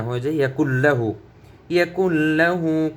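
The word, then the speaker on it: يَكُن لَّهُ: ইয়াকুল লাহু, ইয়াকুল লাহু। আমরা অনেক সময় বলে ফেলি ইয়াকুন লাহু, এটা আমাদের ভুল। ইয়াকুল লাহু হবে, ইয়াকুল লাহু।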